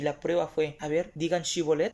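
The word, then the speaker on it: שיבולת: haber digan chivo let pero ellos en su vocablo no tenían ese fonema no tenían ese sonido y no podían pronunciar la s a entonces cuando les preguntaron digan si bolt et ellos dijeron sí volem y le dieron cuenta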